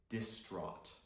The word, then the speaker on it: distraught: Again, the gh sound here is silent. We say distraught.